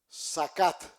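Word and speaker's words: zakat: Sacat Z a k a t.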